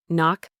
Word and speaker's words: knock: disappears in the pronunciation silent K when followed by N. Knee. You only hear knee. No, you only hear now. Knife. You only hear knife. Knock. You only hear knock.